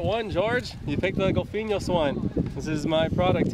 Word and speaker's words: GOLPHIÑHOS: Can you pronounce that? GOLPHIÑHOS. There you go. Yeah, the second try. GOLPHIÑHOS.